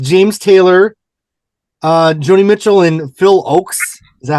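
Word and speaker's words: Phil Ochs: It was a live concert with James Taylor, Joni Mitchell, and Phil Oakes.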